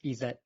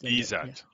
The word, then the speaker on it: Izat: So my name is Izat, if you want to pronounce it. It's Izat. Yeah. Izat, yeah, correct.